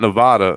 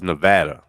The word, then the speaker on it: Nevada: And it's not Nevada, it's Nevada.